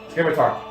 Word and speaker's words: scimitar: Scimitar. Scimitar! Scimitar. I meant scimitar. There's no C. No, there is a C. there There is is a silent.